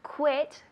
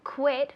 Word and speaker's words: quit: no Kuwait all right it's quit as if there were a w instead of the U Quit Break It and